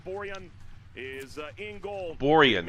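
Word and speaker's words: Borjan: is uh in goal borian that's how you say that including going before Kennedy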